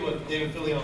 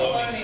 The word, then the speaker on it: Filoni: David Fillion, right? That's how you say it? He's moved on. Filoni.